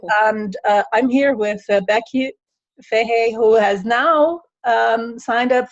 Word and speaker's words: Fahey: Well, it's Irish, and it was O'Fahey, but we pronounce it here in America Fahey.